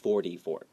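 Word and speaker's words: forty: And 44 has a T, F O R T Y, but we often read it as D, 44.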